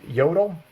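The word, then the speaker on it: Jøtul: be Vermont Castings or Jodel, which is spelt with a J, Jotul. It's like Scandinavian or something like that.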